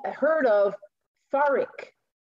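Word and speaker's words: freekeh: called a heard of farrick it's spelled f-r-e-e-k-e-h and it's pronounced f it's pronounced more like f-a-r-i-k ferric ferric is a cereal food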